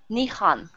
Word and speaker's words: Nihon: How do you say your name? Nihon, with the H sound.